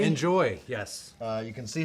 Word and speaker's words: Njoie: So the brand is Njoie. Enjoy.